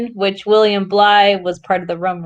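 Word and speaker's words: Bligh: facts about william bly am i saying it's blind it's fly right that's why you want me to pronounce it for you it's bly oh um anybody so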